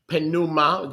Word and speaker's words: pneuma: We learned yesterday that the Greek word for wind or breath or ruach is the Greek word pneuma, the P is silent, pneuma.